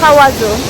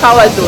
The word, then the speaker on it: Kawazu: name, but we can't pronounce it. Kawazu. Kawazu, yes.